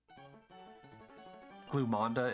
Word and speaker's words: Glumanda: to pronounce other than glumanda Glam glanda no glumanda I feel like I need to have an r at the end I think I have to say glander glanda is its actual pronunciation oh my God what